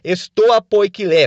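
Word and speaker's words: στοὰ ποικίλη: e ele tem esse nome porque os filósofos se reuniam no chamado Pórtico Pintado, na entrada de Atenas, que em grego é pronunciado estoa poikilé, por isso que vem o nome estoicismo, né?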